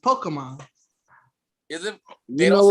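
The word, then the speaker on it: Pokémon: It's supposed to be pronounced Pokemon.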